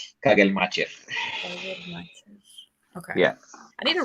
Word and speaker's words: Kagelmacher: So I heard him pronounce his own name, and it is Kagelmacher. Kagelmacher.